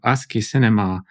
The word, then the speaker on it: Asciinema: So Asciinema, aka Asciinema, that's how I pronounce it, Okay.